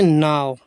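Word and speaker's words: now: Sticks, N ओ डब्ल्यू, इसे पढ़ते नाव, ठीक है, ऐसे नहीं पढ़ते एन से ना, ओ से ना में ओ की नो, नहीं, नाव।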